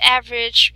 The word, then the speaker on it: average: So another thing, in the word average, we do not pronounce the E at the last part.